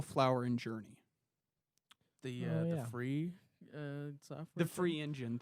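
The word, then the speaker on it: Phyre: it was built using Free engine. Free engine. Free engine. That's interesting. For real engine. Yes. Want to say how it's spelled? Nah. It's PHYR. it's a little out there. Free.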